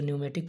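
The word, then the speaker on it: pneumatic: पहला centrifugal governor, न्यूमेटिक governor, P इसमें silent रहेगा इसे न्यूमेटिक पढ़ते हैं, और हाइड्रोलिक गवर्नर।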